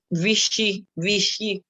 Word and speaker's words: Vichy: O de Vichy. Vichy. La CH se pronuncia SH.